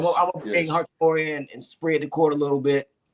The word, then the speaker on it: Hachimura: How you pronounce his name? Hachimura.